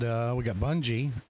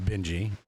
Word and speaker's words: Bungie: And then over here we got Bungie. I think is how you say that, not Benji.